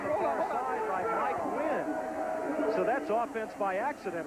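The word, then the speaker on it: Nguyen: Overthrew his tight end, but Wynn came back to the football, and that's now we have a second and eight situation. N-G-U-Y-E-N, but pronounced Wynn.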